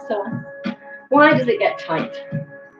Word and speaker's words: psoas: Okay, so why does your psoas, it's spelled psoas, pronounced psoas, why does it get tight?